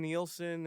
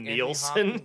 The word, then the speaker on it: Neeson: With Liam Neeson and Liam Andy Nielsen.